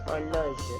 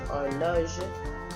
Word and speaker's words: horloge: Even though ta would normally go before a noun that is feminine, because horloge starts with a silent H or a mute H, I would use ton. T-O-N. Okay? C'est ton horloge?